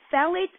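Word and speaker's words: phthalates: then you've got to look out for phalates phalates actually pH um it's that's the way it's spelled phet but put a pH in front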